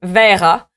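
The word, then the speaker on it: Verrat: voici l'extrait je m'appelle verra oui oui ça se prononce exactement comme verra un mot synonyme de cochon oui on me l'a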